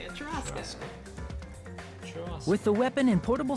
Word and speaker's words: churrasco: That is how you say it, churrasco.